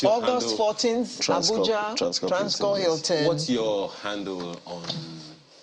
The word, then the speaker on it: Transcorp: Yeah, so the P is silent. Transcorp.